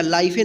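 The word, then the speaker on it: life: क्या पढ़ेंगे हम वाइफ, एल आई एफ ई, लाइफ, इसको लिफे नहीं पढ़ेंगे। ठीक है, या लाइफे नहीं पढ़ेंगे, क्या पढ़ेंगे लाइफ, डब्ल्यू एच आई टी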